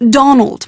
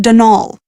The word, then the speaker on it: Donal: the caretaker denal Delaney not Donald mind you there's no D at the end so it's pronounced denol that's the way you're